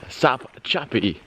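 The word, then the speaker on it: Sopchoppy: viewers of Constantine's channel got the correct pronunciation of that camp. There is no L in Sop-Choppy.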